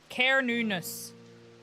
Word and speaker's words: Cernunnos: Pronunciation. Carnunus.